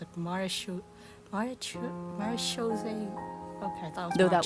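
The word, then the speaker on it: Marechaussee: played host to a group known as The marose Hunters oh that's how you pronounce it marish Mar marish okay though that was their name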